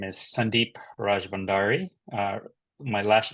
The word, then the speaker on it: Rajbhandari: My name is Sandeep Rajbhandari. My last name is pronounced Rajbhandari.